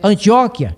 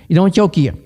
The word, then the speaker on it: Antioquia: Na igreja de Antioquia, alguém lê Antioquia errado, mas não perde a salvação, porque vem de Antíoco e não de Antioco. Então, a pronúncia é Antioquia e não Antioquia, que vem de Antíoco, rei da Síria, etc.